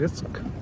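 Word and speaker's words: Rijks: रिस्क RISK नहीं, RIJSK, और उसमें J साइलेंट रहता है।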